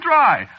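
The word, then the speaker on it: Drei: No, you see, it's a German name. Is it? Yeah, sure. Spelled D-R-E-I. It means 3, you know.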